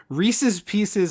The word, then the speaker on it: Reese's Pieces: Reese's Pieces already rhymes. Oh, yeah. But people will pronounce both words wrong in order to make it rhyme because they, like, for some reason their brain doesn't read it as a rhyme. But, like, the candy is named Reese's Pieces because it rhymes.